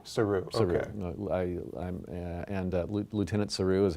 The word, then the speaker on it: Saru: Saru. Saru.